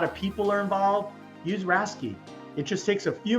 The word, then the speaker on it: RASCI: the top things you need to know it's pronounced rasy you may also see it as racy model